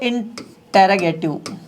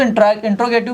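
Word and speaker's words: interrogative: इसे हम लोग कहते हैं इंटेरोगेटिव। इंटेरोगेटिव, ठीक है, कुछ लोग इसको इंट्रोगेटिव भी कहते हैं, लेकिन इसका एक्चुअल प्रोनाउंसिएशन होता है इंटेरोगेटिव।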